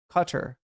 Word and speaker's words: Qatar: Uh, they confused Qatar with Carter, like Jimmy Carter. Carter is how it's pronounced.